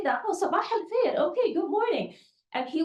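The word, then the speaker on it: صباح الخير: Oh, sabah al-khair.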